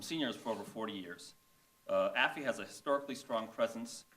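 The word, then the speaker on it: AAFE: Asian Americans for Equality, the acronym for which is pronounced AFI, represented by Chris Coy and Ernesto Vigoro.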